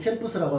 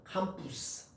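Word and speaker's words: campus: 캠푸스. 캠푸스라고 합니다. 캠푸스. 캠푸스는 들판이에요. 들판. 들판이요. 넓은 큰 광장, 넓은 들판. 그것을 캠푸스. 캠푸스라고 하는 라틴어 발음이고 이걸 이제 영어로 해서 캠퍼스 이렇게 발음을 하죠.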